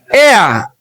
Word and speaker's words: heir: We say air. The H is silent.